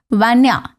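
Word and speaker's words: ванная: 12थ एंड बाय द way bathroom in Russia is वैान्या। वैन्या with अ stress on the first letter ए।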